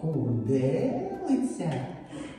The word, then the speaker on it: хурделиця: хурделиця це що хурделиця на е виходить хоч чотири склади Але у нас є М'який приголосний і наголоспадає на другий склад значить схема не підходить